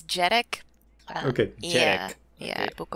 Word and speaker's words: Jhereg: There is a pronunciation guide in the book. I don't think people would really, really need it. It's Jhereg.